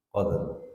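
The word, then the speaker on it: قدر: rnya tidak ada Jadi kalau bacanya Fi lailatil Qadr jangan F lailatil qad Nah kalau dibaca Fi lailatil qad Nah itu artinya rnya hilang kalau mau baca Fi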